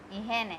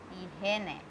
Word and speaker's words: higiene: ihene. H is silent in Spanish. So it will start again with E, he, ne, ihene.